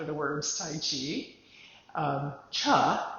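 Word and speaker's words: Chih: Um, cha is the way that third word is pronounced.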